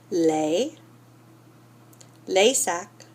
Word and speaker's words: les sacs: What your book is saying is that you don't pronounce those. So, si vous pouvez répéter le sac, le vélo, le portable, le copain, le voisin, les sacs, les vélos, les portables, les copains, les voisins.